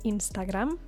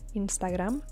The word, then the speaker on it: Instagram: different accent we say Instagram in Spanish in Spain they say Instagram so the accent falls on the last a Instagram Facebook they try to